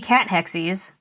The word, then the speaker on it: Cathexis: it's not cuz I really thought it was going to be cat hexis but I I listen to it online it's c cathexis for once in my life I actually guessed correctly on a pronunciation cuz that's kind of